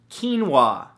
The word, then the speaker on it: quinoa: beautiful thing number two quinoa spelled ke en wuah no that's not how it's spelt at all but it should right come on English now the